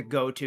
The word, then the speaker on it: GOTO: like the go-to Droid all right they pronounce it as goto in the game uh he's not technically